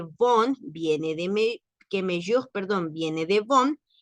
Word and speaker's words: mieux: una x al final se pronuncia me con la e cerrada es el comparativo de